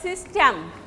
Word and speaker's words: system: Or suppose system, systematize, ties will be unstressed. System, sys will be stressed.